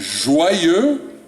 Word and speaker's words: joyeux: What we will do instead is joyeux, one word, 2 syllables, joyeux anniversaire.